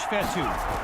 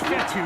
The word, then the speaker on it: Fetu: So Coach Fetu spelled F-E-T-U. For the longest time, I was pronouncing it Coach Feta, like feta cheese.